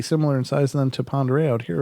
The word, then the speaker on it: Pend Oreille: area ladies and gentlemans called Lake Pend Oreille but it's spelled pend orielle it's a French word apparently I'm not sure